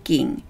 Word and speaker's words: 厳: 음독 ( 중국어 읽기 ) 은 " 겐 (gen)" 또는 " 곤 (gon)" 입니다 .